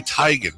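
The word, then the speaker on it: Teigen: the other one please is Chrissy tigan not tan according to Chrissy tyan yeah she just went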